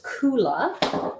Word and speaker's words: Kula: it's i just want to make sure i'm pronouncing things correctly no there's nothing funny on this the company name is coola k-u-l-a and i have that link in the